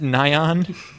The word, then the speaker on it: Nyan: Do you really pronounce it Nyan? Nyan. Nyan Cat. It says it in the song.